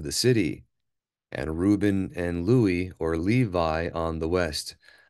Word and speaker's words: Levi: far as I'm aware the Accurate Way of pronouncing it or what he would have said himself was Louie not Levi but either way it